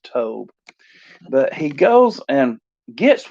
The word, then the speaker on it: Tob: to the land of tobe and i'm pronouncing this tome as in rhymes with job but spelled the same